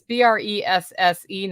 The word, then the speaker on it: Bresse: It's BRESSE, not breast as in tatas.